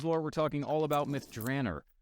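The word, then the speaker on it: Myth Drannor: we're talking all about myth drer or as I said myth drainer when I was in this idea to Ed Mr Greenwood ever gracious reminded me that it's probably pronounced that way somewhere in the Realms right so uh go ahead and keep that one in your back pocket next time you can't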